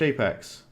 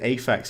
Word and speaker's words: Apex: Thank you very much, Apex. I nearly said... I nearly pronounced it Aphex. You know, like Aphex Twin, the band? No, Apex, like Apex Legends.